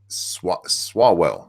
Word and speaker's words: Swalwell: Representative Eric Swalwell, that's how you say his name.